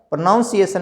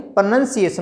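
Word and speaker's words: pronunciation: तो आपको क्या करना है, प्रोनाउंसिएशन नहीं प्रोनंसिएशन होता है।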